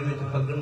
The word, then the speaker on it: फगुन: सा पाशा जी बाणी फगन का नाम फगन नहीं है फगुन है फगुन है देखो स्पेलिंग